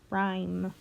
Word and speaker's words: rhyme: rhyme that's one reason rhyme notice rhyme has an H in there but we don't hear the H sound it looks like it's